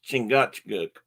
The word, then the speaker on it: Chingachgook: wonder and don't know the the name is pronounced chingachgook by now I'm sure most of you know